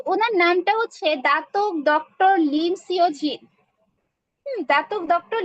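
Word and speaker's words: Datuk: তো ওনার নামটা হচ্ছে দাতক ডক্টর লিম সিওজিন। দাতক doctor Lim সিওজিন। এই যে দাতক বা হচ্ছে অনেক লিডারও হচ্ছে এটাকে ধাতক উচ্চারণ করে থাকে। তো হয় ধাতকও বলা যায়, দাতও বলা যায়।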